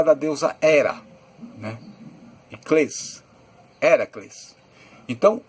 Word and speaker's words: Heracles: Aliás, a palavra Hércules, o nome Hércules, não era assim que era pronunciado. Na verdade, Heracles. Hércules seria um nome que foi colocado pelo povo que estava dominando naquela época, que eram os romanos. Então, no latim, Hércules. No grego, Heracles.